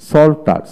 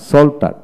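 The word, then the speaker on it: psalter: তারপরে সল্টার, সল্টার, এস এ এল টি ই আর, সল্টার। এভাবে পি উচ্চারণ হলো না।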